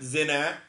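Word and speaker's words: زينة: Zina, and that's with a long E sound, not zina, but zina. This is beautification, which is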